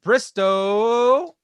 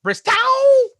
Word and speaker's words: Bristow: From Cicero, New York, Ryan Bristow. I am told, I am sorry, I'm getting right here right now, the incorrect pronunciation of his last name. It's actually Bristow.